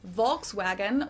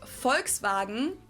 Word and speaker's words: Volkswagen: So just imagine that it was spelled with an F and V instead.